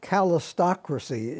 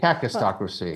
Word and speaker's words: kakistocracy: Paul, you say we are on the verge of a calistocracy, if I'm pronouncing it right. Kakistocracy. Calistocracy.